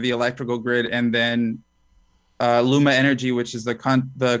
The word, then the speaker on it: Luma: going to the partial privatization phase where now luma energy if did i say that pronounce that correctly yeah yeah yeah luma energy is a private corporation who's won a